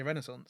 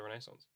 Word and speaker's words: Renaissance: Renaissance, which I've noticed that we pronounce differently. Yeah, I say Renaissance. I say Renaissance.